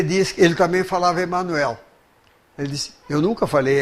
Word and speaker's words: Emanuel: Ele disse que ele também falava Emanuel. Ele disse, eu nunca falei Emmanuel, porque é um nome hebraico. Esses nomes hebraicos, todos que terminam em El, têm o acento na última sílaba.